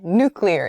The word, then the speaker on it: nuclear: I don't know why this is but nuclear nuclear is the correct pronunciation of this word don't pronounce nuclear as